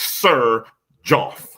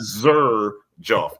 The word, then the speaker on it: Xerjoff: It's Sir Joff. Okay. Not Zur Joff. It's Sir Joff. That's right. Say whatever you want. Every everybody trying to pronounce it like they're saying Xeries or something like that.